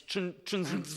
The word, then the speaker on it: TRNST: Um prior to Is it pronounced It's trans. Yeah.